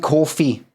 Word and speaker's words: Ko-fi: And Ko-fi, right?